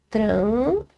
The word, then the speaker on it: trânsito: Então, ou seja, gente, trânsito, a gente sabe que é uma, ó, trânsito, certo? É uma proparoxítona.